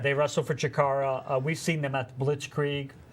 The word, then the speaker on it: Chikara: It rhymes with Ikara. Actually, it does. That's pretty good. I didn't think you could pull that off. Right. So, yes, Chikara.